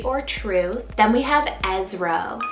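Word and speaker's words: Ezro: one means verity or true then we have esro spell e zed zed r o esro and this one's an ezra variant meaning help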